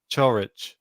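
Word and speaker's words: Ćorić: was watching the match umphar was pronouncing it cho rich so i think this is the way i'm gonna be saying it for now churwich and he yeah dispatched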